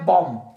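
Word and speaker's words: bomb: सही है फिर उसके बाद हमारे पास है बम बम ये बम ये बम नहीं है ये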